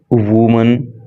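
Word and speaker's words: women: अब इसको वमन पढ़ेंगे जब एक महिला की बात हो रही होती है तो स्पेलिंग रहती है डब्लू ओ एम ए एन और उसका प्रोनंसिएशन रहता है वुमन ल लेकिन जब एक से ज्यादा महिलाओं की बात हो रही होती है तो उसका जो स्पेलिंग है डब्लू ओ एम ई एन हो जाता है और प्रोनंसिएशन हो जाता है वमन तो इसको पढ़ेंगे वमन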